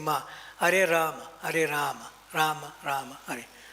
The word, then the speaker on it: Rama: Rama. The second one is short. Rama. And sometimes when you chant and you can hear, others cannot hear you saying Ma. Hare Rama, Hare Rama, Rama, Rama, Hare.